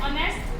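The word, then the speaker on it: honest: हमारे ही is dash ऑनेस्ट मैन। अब देखो एच हमारा क्या है, कॉन्सोनेंट है, लेकिन इसकी आवाज जो है क्या है ओ से, इसमें एच हमारा साइलेंट है, तो यहाँ लिखेंगे एन।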